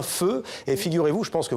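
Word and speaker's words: phở: il y a donc l'incontournable feu ça s'écrit paix à chaud on le voit beaucoup écrit dans le xiiie arrondissement de paris avec l'eau et l'accent alors on dit bien feu et figurez-vous je pense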